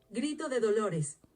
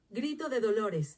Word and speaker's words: Grito de Dolores: Cry of Dolores, okay, but how do you pronounce it? Grito de Dolores. Grito de Dolores. I like the way she says that. Grito de Dolores.